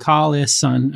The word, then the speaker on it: Collison: We are, and you pronounce it Collison, obviously.